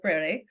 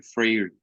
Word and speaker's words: Freire: So for us, we call Paulo Freire. We pronounce it different.